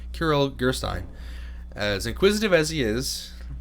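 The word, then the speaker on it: Kirill Gerstein: popular pieces in the repertoire but the pianist crittle gerstein as inquisitive as he is talented argues that start carol i mispronounced his name Kiril gerstein as inquisitive as he is talented argues that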